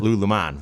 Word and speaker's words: Lululemon: wilson of lululemon right he called it lulumon we've all been saying it wrong and and you know